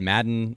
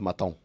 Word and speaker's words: Maton: It's pronounced Maton. It's French. Silent he's T, Phil.